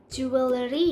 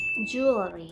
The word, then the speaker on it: jewelry: ะ ไ ม่ อ่ า น ว่ า jewelry ห รื อ ว่ า jewelry น ะ ค ะ แ ต่ เ ร า จ ะ อ่ า น ว่ า jewelry jewelry น ะ ค ะ เ ร า จ